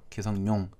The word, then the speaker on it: 기성용: 기성용 선수 같은 경우에 기성용 이렇게 발음하는 사람도 있는가 하면 니은을 첨가시켜서 기성용 이렇게 발음하는 사람도 있습니다.